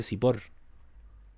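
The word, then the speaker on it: צִפּוֹר: Pájaro se dice, en hebreo se dice sipor.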